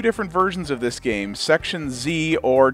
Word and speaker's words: Section Z: We're going to be taking a look at two different versions of this game, Section Z, or to pronounce it the correct Canadian and British way, Section Z. It's a Z, damn it.